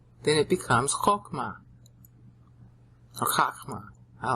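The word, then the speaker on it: חכמה: Chokma is how they pronounce it today, but it's really chakma.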